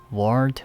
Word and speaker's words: ward: For about a week, my room in the ward was full of flowers, balloons, and cars.